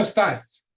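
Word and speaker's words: estás: somebody's name como estas again we have a word that ends in s and so we're breaking that rule normally with the word ends and that's we're going to pronounce we're gonna Accent on the second to last syllable but we've got a written accent there which changes that rule breaks that rule and puts the accent where the accent is no muy bien no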